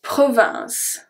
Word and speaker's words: province: So for province, the last thing that I pronounce is the S, the sound S. Province. So the E and the S are silent.